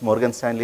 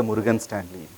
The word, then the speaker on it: Morgan Stanley: When I go and ask people, people used to pronounce Morgan Stanley as a Murugan Stanley.